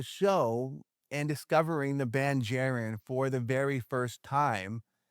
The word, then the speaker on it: Jaren: Any streaming platform at The Band Jaron. And Jaron is spelled like Karen with a J.